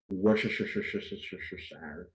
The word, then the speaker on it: Worcestershire: Worcestershire. That's actually how you pronounce it.